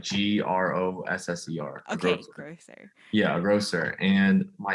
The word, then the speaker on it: grosser: a grocer and a gr how do you spell that roaster like g-r-o-s-s-e-r okay yeah grosser and my official title would